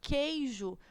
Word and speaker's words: queijo: Em queijo, nós temos o QU, que, no entanto, nós pronunciamos apenas o K, né? Então, queijo é como se esse U ele fosse mudo, ele não fosse pronunciável.